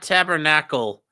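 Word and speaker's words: tabarnak: No, it's not tabernacle. Tabernac. Tabe tabernac. Like, put with a K on there. There's no tabernacle. It's tabernac.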